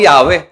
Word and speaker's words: Yahweh: Pero ang pronunciation ay Yahwe na sa talatang ito'y nakaugnay sa pandiwang haya